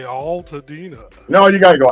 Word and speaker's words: Altadena: It's Altadena, man. Al. Like Al Blades, like Al Sharpton.